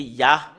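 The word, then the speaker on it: יה: Pour Yod et He, c'est... Cela devient I, soit I ou I, parce que c'est AH qu'on le prononce, c'est Yah.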